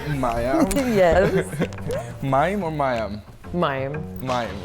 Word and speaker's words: Mayim: Mayim. Mayim, right? Yeah. People mispronounce it all the time.